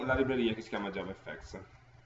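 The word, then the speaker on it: JavaFX: libreria che si chiama Java Effect scritto Java FX No ma è scritto con l'intenzione di pronunciare la FX come Effects E perché è in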